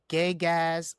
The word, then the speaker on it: Gygax: it started in 74 by Gary Gygax. I might be butchering his name. No matter what, Gygax, you Gygax. definitely butchered his name.